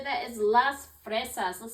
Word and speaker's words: las fresas: It's a picture of a strawberry, and the way we say that is las fresas.